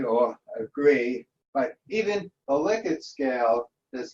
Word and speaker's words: Likert: this myself i mean i knew it was named after liquor but liquid is pronounced liquid and not likert and what could i say for all these years i've been using the word like it but it's actually liquid um well any anyway